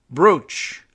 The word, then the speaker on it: brooch: by the way and I've always marveled over the pronunciation of this and as more more brooch than brooch even though it's spelled as brooch although Natalie here is